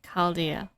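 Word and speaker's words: Chaldea: sure ah go there so it's pronounced as caldia yeah I suppose so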